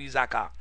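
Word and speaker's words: Issacar: Genèse 49 verset 14 15 c'est ça le prononcé pour isakar n isakar c'était 5e petit Jacob encore fait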